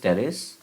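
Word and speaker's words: Pteris: दोबारा से दिखाता हूँ, दिस इज टेरिस, P silent है, एंड ड्रायोप्टेरिस।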